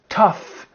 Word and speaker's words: tough: Tough and rough are 2 adjectives that are pretty much synonyms.